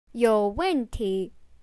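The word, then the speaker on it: 有问题: 有问题, the third, fourth, and second tone, means there is or have a question or problem.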